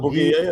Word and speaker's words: Bugia: Paulo Bugia yan eh. Bugia ang pagkasabi, Bugia. Bugia, i-pronounce Bugia, okay.